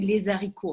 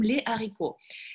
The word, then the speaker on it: les haricots: Тоже там не говорим мы «les haricots», а мы говорим «les haricots».